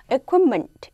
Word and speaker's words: equipment: equipment 라는 것은요. 보세요 여러분들 equip, t는 거의 발음하지 않습니다.